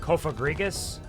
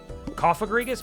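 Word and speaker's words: Cofagrigus: I think technically it's supposed to be pronounced kofagrigus, but like they made the rules coffrigus maybe cuz it's kind of a coffin like a sarcophagus.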